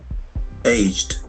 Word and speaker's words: aged: dies H 81 H the ed ending is very important a g e so when we pronounce ED and D be extra careful. Aged.